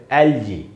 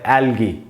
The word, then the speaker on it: algae: इसकी स्पेलिंग है ALGAE और इसके दो उच्चारण है। इसका जो एकदम लोकप्रिय, जो पॉपुलर उच्चारण है वो है एलजी, और जो दूसरा उच्चारण है वो है एल्गी, जो थोड़ा सा कम यूज़ करते हैं लोग। जो भी यूज़ करें, कम करें, ज़्यादा करें, उससे कोई फर्क नहीं पड़ता। दोनों उच्चारण है, दोनों सही है, दोनों में से कोई